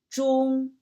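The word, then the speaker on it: 中: On the right up corner, you'll see the pronunciation of this character. Zhi, ong, zhong, zhong.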